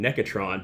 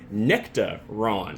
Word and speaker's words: Nectaron: was saying it wrong I was saying necron but it is nectar Ron apparently it's named after a New Zealander who helped develop the Hop for like the past 20 years his name was Ron